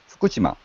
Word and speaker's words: Fukushima: Fukushima. Again? not Fukushima, but Fukushima. Fukushima. First syllables has a high sound, high tone.